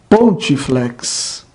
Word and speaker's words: pontifex: Exemplo: pontifex. Pontifex. A penúltima sílaba ti é breve.